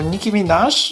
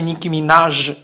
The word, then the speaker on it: Nicki Minaj: Bo Nicki Minaj przesadza. I tak, wymawia się Nicki Minaj, a nie Nicki Minaj.